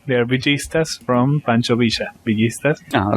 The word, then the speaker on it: Villistas: Yeah, we pronounce the double L like a sh. So it's Villistas here.